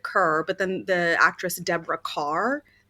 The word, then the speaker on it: Kerr: oh did you yeah I said Kia I think not K that sounds fancier yeah you know what the actress um people do tend to say it wrong well I don't know I don't know what's right or wrong but um my family says it cerr but the actress Deborah